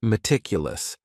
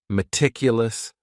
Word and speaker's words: meticulous: And this word has four syllables. And the stress is on that second syllable. Meticulous. Meticulous. That first syllable also has that schwa, that a sound, that reduced vowel sound.